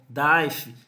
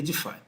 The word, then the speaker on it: DeFi: Mas você vai ver muita gente falando DAIF, DeFi, mas a pronúncia correta aí, na sua sigla, seria DeFi.